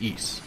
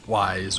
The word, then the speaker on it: Ys: this point I dabbled in was Wanderers from Ys, which showed up in the US on Super Nintendo back in 1991, and is the third game in the series. And yes, the series is pronounced Ys, not Ys or YS.